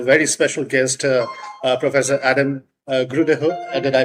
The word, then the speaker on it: Grydehøj: And today with me I have a very special guest, Professor Adam Grydehøj. Did I pronounce it right?